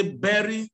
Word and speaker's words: bury: you go for a funeral they will say berry somebody bury means anterior activity so the burial lantern so